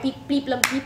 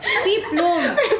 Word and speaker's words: peplum: Guys, remember, it's peeplum. Like a peeplum wedge, like that peeplum.